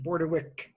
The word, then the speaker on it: Bordewich: And even though it's pronounced Bordewich, it's spelled with an H.